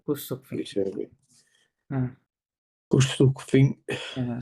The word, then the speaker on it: couchsurfing: শেষের আয়েন কিভাবে উচ্চারণ করবো ফিং ফিং ইংরেজিতে যেভাবে করেন সেভাবে কুসুকফিং।